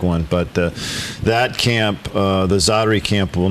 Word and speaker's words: Zaatari: How do you pronounce that camp's name? That camp is Zaatari. Zaatari.